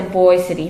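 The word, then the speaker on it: Boise City: through lies cities like boyce city oklahoma were founded on fraud even the name itself was a lie the promoters pronounced a boy city from the french word le boys which means trees but in no man's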